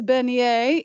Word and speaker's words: beignet: at the recipes and you wondered how to pronounce that it is bener it is France Al FR say and if